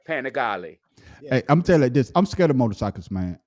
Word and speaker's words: Panigale: That is I've always wanted a Panigale, but I don't know how to ride a bike, so I'm never gonna step A up to what?